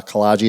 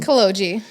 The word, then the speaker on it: Kogi: Northridge and Laura uh kagi is with us am I pronouncing I don't even get your name right how do you pronounce your last name kogi kogi you're way off bro way off way off